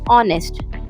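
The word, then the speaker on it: honest: इसी तरह second word है हमारा ऑनेस्ट। ऑनेस्ट भी एच से स्टार्ट होता है। मगर एच हमारा साइलेंट हो जाता है।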